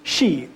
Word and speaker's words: Xi: Shi, X-I. That's how X-I is Shi. That's how it's pronounced within the Olmec tongue.